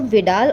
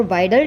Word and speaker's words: Widal: इस टेस्ट को विडाल और वाइडल टेस्ट दोनों ही प्रोनाउंस किया जाता है।